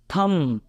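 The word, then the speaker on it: thumb: ध्यान रखना है तो इसको हम क्या पढ़ेंगे थम राइट और कुछ वर्ड्स मैंने लिए हैं उसमें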